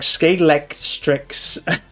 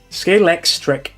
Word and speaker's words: Scalextric: I couldn't even pronounce that as a kid. It was like Scalextrix. Scalextric.